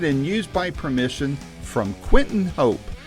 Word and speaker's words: Quinten: used by permission from Quentin Hope. Quentin is spelled Quinten, and Hope is Hop as in Paul, E.